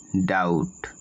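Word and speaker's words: doubt: সি আর ওয়াই ক্রাই কোন ওয়ার্ডের বি এর আগে বি থাকে তবে বি এর উচ্চারণ হবে না যেমন ডি ও ইউ বি টি ডাউট ডি ই বি টি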